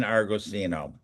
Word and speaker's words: Argosino: Um today we have Ryan Argosino.